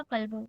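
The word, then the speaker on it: كلبٌ: हाजा कल्बू, हाउ डू we need to pronounce, हाजा कल्बू, नॉट कलबू, हाजा कल्बू।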